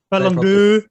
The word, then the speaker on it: Ballon d'Or: Ballon d'Or.